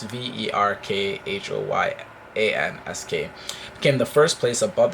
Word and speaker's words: Verkhoyansk: The Russian town of Verkhovsky, I did not spell it right, but it's Verkhoyansk, became the first place above the Arctic Circle to experience temperatures over 100 degrees Fahrenheit.